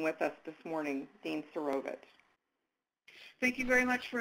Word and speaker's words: Serovich: I apologize, that's Serovich. I want to make sure I pronounce it correctly.